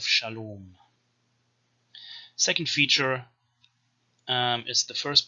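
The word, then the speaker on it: שלום: canaanite shift which means proto-semitic long r became o which is why in proto-semitic the word for peace is salamu but in canaanite we have shalom second feature is the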